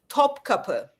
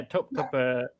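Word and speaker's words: Topkapı: Topaki. Tap. I don't know how to pronounce it. I'll help you out, Mr. King. Mr. Muslim. Top copper. Top copper. Yeah, top copper.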